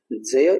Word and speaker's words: ज्ञ: ज्ञ तो अक्सर हम इसकी बोलते हैं उच्चारण तो ज्ञ ऐसे करते हैं जो कि गलत है। इसका शुद्ध उच्चारण क्या है?